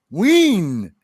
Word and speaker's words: Wien: Wien. That's how they say it over there. Wien, not Wien.